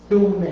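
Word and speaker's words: ثم: Thumma, thum, not sum, Doing with the th.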